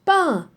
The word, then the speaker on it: peint: Non, ça se prononce peint. Peinture. Peinture. D'accord? Ici c'est peint, E-I-N. E-I-N c'est un.